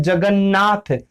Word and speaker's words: जगन्नाथ: हम सब देखते हैं जगन्नाथ अब देखिए यहां पर यह नया है और इस ने का उच्चारण होता है जगन्नाथ इसने का सीधा-सीधा स्पष्ट उच्चारण आप सुनेंगे और अगर आप दूसरा